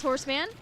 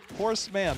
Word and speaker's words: Horseman: It's been pretty darn good, Headless Horseman. Horseman, not horseman, but horseman. Yeah, I know. I had the emphasis on the wrong syllable there.